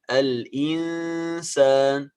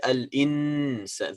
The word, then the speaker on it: الإنسان: السين الإنسان. Be careful, we don't pronounce النون. We don't say الإنسان. This is إظهار.